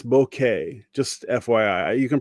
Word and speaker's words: bokeh: And I hear people pronounce it like bokeki or bokei or something, but it's bokeh.